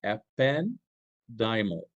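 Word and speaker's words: ependymal: Ependimal cells.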